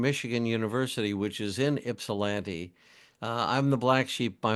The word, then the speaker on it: Ypsilanti: It's Ypsilanti. spelled with a Y, but it's pronounced with an I. Ypsilanti.